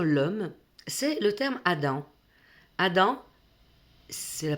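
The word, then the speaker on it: אדם: Adam, c'est la prononciation plus ou moins en hébreu, ça correspond à la signification de être humain, donc pas homme.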